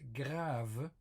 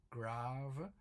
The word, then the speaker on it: grave: We also have the French word grave, which is grave. So it's written exactly the same, but it's pronounced differently. It has a focus on the A, very long A, grave, with all the